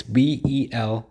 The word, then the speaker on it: Belay: I'll just call him his middle name, Bele, and that's Belay, Bele, because these names are not easy to pronounce.